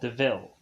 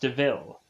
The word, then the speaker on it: DeVille: Estella a car called DeVille. And so we have Horace who mentions, like, well, this car says, like, devil, but it's pronounced DeVille.